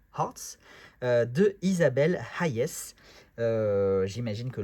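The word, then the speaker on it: H'Arts: le Tarot of Hearts, on prononce bien le H-A, Hearts, de Isabelle Hayes.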